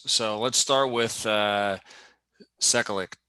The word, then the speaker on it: Sekulic: a couple reasons so let's start with uh cyclic sekkalich is that how you say it yeah start